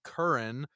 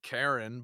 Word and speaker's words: Karan: "You can call me Curran." That's what Americans always call me. Just don't whatever you do, don't call me Karen, but you can call me Curran. Just pronounce it. Imagine it's spelled Curran.